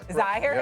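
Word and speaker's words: Zeier: Shedeur became the first Browns quarterback to win his first career start since Zaire, am I saying it right? Yeah. Zaire in 1995.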